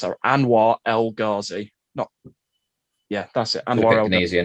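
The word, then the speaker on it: Anwar El Ghazi: I think I pronounced that Anwar Elgazi.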